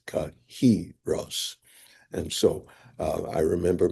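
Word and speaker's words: kairos: people pronounce Greek terminology just like most people in modernity called chyros of that time. But when you look at the syllabic formula in Strongs, it is kahros.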